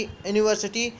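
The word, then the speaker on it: university: रही है तो यूनिवर्सिटी यूनिवर्सिटी के साथ पहले ए आता है ना कि एंड यूनिवर्सिटी इसका उच्चारण यू यूनिवर्सिटी इसका हिंदी में होता सका उच्चारण ए से शुरू होता है इसमें ए रहेगा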